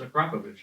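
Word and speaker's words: Akrapovič: No, it's Acropovich.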